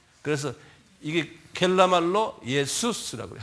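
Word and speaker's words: Ἰησοῦς: 그래서 이게 헬라말로 예수스라고 그래요. 한번 발음해 보세요. 예수스. 예수가 아니라 예수스.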